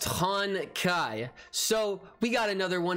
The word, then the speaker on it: Honkai: just looked real quick it's pronounced han kai so we got another